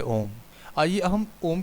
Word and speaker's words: ओम: उसके अर्थ को जाने ओम शब्द तीन ध्वनियों से बना है अ उ और म इन तीन शब्द वाले शब्द की महिमा अपरंपार है इन तीनों ध्वनियों को को मिलाने पर सही ओम का उच्चारण होता है अ का मतलब है